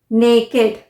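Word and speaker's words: naked: एंड हो रहा है तो उसे हम इड प्रोनाउंस करेंगे जैसे विकेट विकेट डब्लू आई सी के ई D wicket नेकेड नेकेड okay नेकेड वकेड और आर यूज एस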